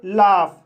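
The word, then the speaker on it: laugh: लेकिन गाइस इस रूल का एक अपवाद है जो इस नियम को फॉलो नहीं करता है। जैसे लाफ, लाफ शब्द में AU का उच्चारण आ हुआ है और GH का उच्चारण फा हुआ है, इसलिए इसे लाफ पढ़ा जाता है।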